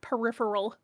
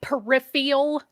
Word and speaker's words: peripheral: I think he accidentally a vowel and gave it to everybody who mispronounces the word peripheral. Oh. Like all the people that say it peripheral. Peripheral. I'm just like, no, that's not a thing.